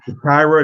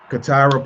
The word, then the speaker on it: CaTyra: We got Peachi Williams and CaTyra. That's how you pronounce it? Yes. CaTyra Polland.